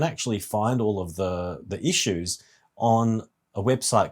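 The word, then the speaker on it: Issuu: And I didn't know until yesterday that you can actually find all of the issues on a website called Issue, funnily enough. It's spelled ISSW.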